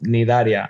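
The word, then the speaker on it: Cnidaria: Yeah, the C is silent. It's called Nidaria.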